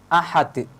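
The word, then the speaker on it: أحد: Contohnya seperti huruf dal yang ada pada kalimat ahad. Lafadz ahad merupakan qalqalah, bacaan qalqalah kubra. Karena terletak ada pada akhir kalimat yang diwakafkan. Jadi cara membacanya tidak boleh dihilangkan bacaan qalqalahnya, harus ditampakkan.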